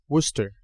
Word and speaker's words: Worcester: for a second there so how do you pronounce the city that this venue is located in Worcester that's awesome yeah I know I'm an annunciator